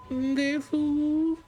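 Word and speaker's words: です: And then when I actually started doing it, I learned that it's actually just Des. It's Des. Call me Des. You don't actually go Desu. It's not a thing. Say, to try to like actually Yeah. Desu.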